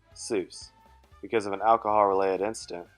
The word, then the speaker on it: Seuss: his mother's maiden name and his middle name Seuss because of an alcohol-related incident that required anonymity Seuss is actually pronounced as soyuz but the incorrect version stuck because of Rapid